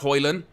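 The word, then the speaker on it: Højlund: fat four says oh and it's pronounced hoyland yes indeed that's how it's pronounced if you haven't already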